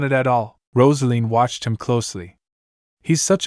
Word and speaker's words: Roselene: Roselene nodded thoughtfully. That's how you pronounce Roselene in the east.